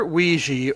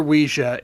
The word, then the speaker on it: Ouija: a note on pronunciation either Ouiji or Ouija is acceptable no wrong that's from